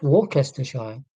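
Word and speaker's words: Worcestershire: That's walkers shine. Yeah. Like like the source. Yeah. And if you've heard Worcester pronounced then you might remember.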